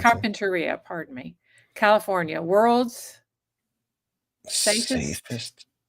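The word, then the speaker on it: Carpinteria: have to let's see Carpenteria California world or Carpenteria Carpenteria that's how we pronounce Carpenteria pardon me California world's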